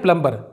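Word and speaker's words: plumber: यह है प्लम्बर। यहाँ पर इसको सब लोग प्लम्बर पढ़ते हैं दोस्तों, लेकिन यह है प्लम्बर, क्योंकि यहाँ पर भी एम के बाद बी साइलेंट है।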